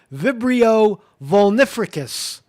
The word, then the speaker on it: Vibrio vulnificus: infections of vibrio vulnificus I tried it again vibrio volnificus that's that's how you say it uh while